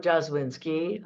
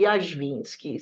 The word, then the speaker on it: Jazwinski: or jazwinski well here in this country I'm jazwinski I actually I know hakara trees are also